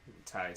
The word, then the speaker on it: Ty: Ty spelled like Thailand, Ty, and then Tony.